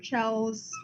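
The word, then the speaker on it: Chell: However, because that is referred to like I don't know how to pronounce her name, Shells.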